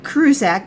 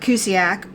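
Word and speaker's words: Marcuse: say it right, but it's Herbert Cusack, not Kruzak, but Cusiak, and he's the one that actually started critical theory.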